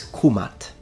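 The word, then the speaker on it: Kemet: to be precise then the correct and most likely pronunciation in ancient Egyptian specifically in classical Egyptian is kumat but man if you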